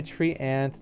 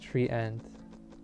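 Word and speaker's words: treant: lot of damage tree it's probably tree ant not tree end well i'm sure it's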